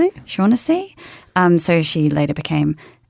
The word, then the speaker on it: Shaughnessy: I can't quite pronounce that uh Shaughnessy. Shaughnessy.